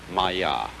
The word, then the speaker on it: Maya: Pronounced Maya.